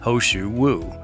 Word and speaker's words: He shou wu: root hosu wo the Chinese pinion translation is pronounced hosu wo and is occasionally spelled hosu wo for this